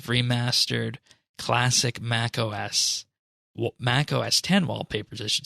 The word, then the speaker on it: OS X: x dot photo yes it's pronounced 10 not x there's a series of remastered classic mac os mac os 10 wallpapers i should say